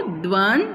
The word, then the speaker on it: द्वंद्व: आप इसकी स्पेलिंग ध्यान से देखेंगे, ये नीचे हलंत लगाया गया है, ये दोनों द हाफ हैं यानी आधे हैं, तो क्या बोलते हैं हम इसको? द्वंद्व समास।